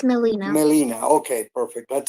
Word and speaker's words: Melina: So the pronunciation in Spanish will be Melina, the way it is written in your profile.